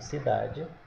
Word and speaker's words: cidade: E quando nós falamos a palavra, observe que a sílaba tônica é o dá.